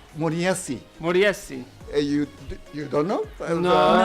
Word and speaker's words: Moriyasu: Is that right pronunciation? Katsumi. No. How do you say it? You have to remember, there is a village called in Sulaimania called Moriyasi. Moriyasu.